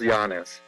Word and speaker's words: Giannis: Is it Giannis or Manis? It's pronounced Giannis, Demo Giannis.